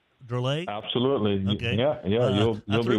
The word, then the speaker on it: Drolet: Is that how you pronounce her name? Drolet?